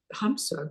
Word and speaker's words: hamsa: that we've introduced before it's called ham it's a Sanskrit word it's spelled h MSA for those of us who speak English it will Aid Us in meditation it goes hamsa goes on within us every